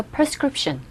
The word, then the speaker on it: prescription: 하나 더. prescription. 철자는 P-R-E, prescription이라고 들릴 것 같은데 원어민들 입에서 나오는 소리는 걔네들은 그들의 입장에서는 발음할 때는 prescription이라고 합니다. 그런데 우리 귀에 전달될 때는 이 P-R-E가 아니라 P-E-R처럼 빠르게 발음되죠. 그래서 prescription. prescription이라고 안 들립니다.